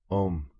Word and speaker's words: Om: Om pronounced as a soft flowing m sound with a silent deep resonance at the end.